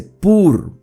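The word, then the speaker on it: πῦρ: Acá la palabra fuego, que ustedes pueden ver la traducción en letras rojas, en griego se pronuncia pur. Aquí dice pur como de purificación, ¿sí?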